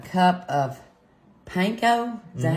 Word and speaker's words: panko: We're going to pull over a bowl and add in 1 cup of panko.